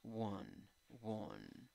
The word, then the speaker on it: won: Won, won. ¿Ok? Es schwa. No es ni A, ni E, ni O.